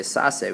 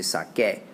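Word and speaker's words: saqué: So we don't say sase, we say sake. Sacaste, saco, those are all fine. Those all make a k sound, like in sacar.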